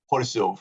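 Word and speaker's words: Chorzów: on my side that I like to pronounce the factory in its original Polish name, Horsów.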